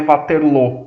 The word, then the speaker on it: Waterloo: a pronúncia em inglês Waterloo que a como os ingleses pronunciam o nome mesmo é bater lo mas a gente ouve mais falar de Waterloo porque o a pronúncia inglesa um forte ingleses que